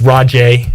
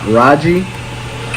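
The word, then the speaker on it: Rahjai: If you're curious about the correct pronunciation, it's Rajay. It's Reese's. Hit it one more time, Shirley. What is ECU's running back's name? So it's not Raji, Raja, or Raja. It's Rajay.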